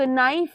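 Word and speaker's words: knife: बिल्कुल वैसे ही जैसे नाइफ में हम इसे क नाइफ नहीं बोलते सिर्फ नाइफ बोलते हैं के कैसा है के म्यूटेशन है साइलेंट है तो ऐसे वर्ड जिसमें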